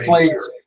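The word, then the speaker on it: Pfleger: Father Flieger is pronounced Flager.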